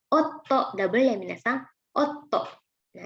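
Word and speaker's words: 夫: Nah, suami dibacanya otto, double ya minasang, otto.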